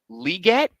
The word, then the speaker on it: Legette: And that article said that his last name is actually pronounced Liget His last name is pronounced Xavier Legette.